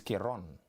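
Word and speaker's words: Karon: on her page, and they spell it K-A-R-O-N. So she's Kiron.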